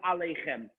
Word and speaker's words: aleichem: Number one, see where the mouse is, the word aleichem. The yud in this case is silent. Aleichem. The yud is silent.